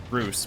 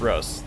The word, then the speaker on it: Russ: I know it's pronounced Roos, but I've always said Russ.